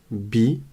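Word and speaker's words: بِ: dessous de la lettre c'est la Kara et on la prononce i la voyelle qui est au-dessus de la lettre et qui forme comme une boucle qui ressemble à un uf c'est le ou donc là on lit B bi Bou d'ailleurs je viens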